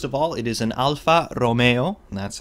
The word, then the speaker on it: Alfa Romeo: is interesting first of all it is an Alfa Romeo and that's how you pronounce the name of the company the model